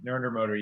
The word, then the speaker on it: Narendra Modi: And would you prefer to eat lunch with him or the current leader of India, Narendra Modi? Is that how you say it? Mr. Modi, Narendra Modi, yeah, that's him.